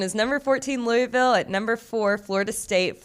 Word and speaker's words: Louisville: 14 Louisville at number four Florida state Florida State's favored